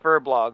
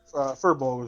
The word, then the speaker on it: Furbolg: He's about right here, and what you guys will see is a, what is it pronounced, furblog, right? Or, what? Furbolg is gonna be.